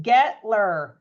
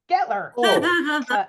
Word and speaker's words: Guettler: so easy Staples but the U silent it's just getler getler yeah everybody everybody says it wrong um you know I've been called glier gutter yeah getler in German I think